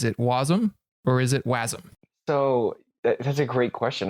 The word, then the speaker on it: wasm: where I mean jar Jared argues that it should be wasm because then it sound rhymes with awesome and so we can